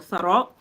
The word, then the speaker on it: Sarò: So the little tick on the O, for example, that's important. Because if you only wrote Saro, it will mean something different. But Sarò is the correct way.